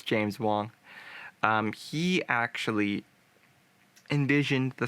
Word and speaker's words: James Wong: James Wong, not James Morgan. It's James Wong.